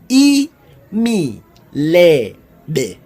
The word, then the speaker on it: imilebe: they are very bland spelled and pronounced as any lady e me lay day one more time e